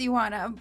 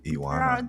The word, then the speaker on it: Ioana: Is Ioana, am I pronouncing that correctly? It's Iwana. Iwana.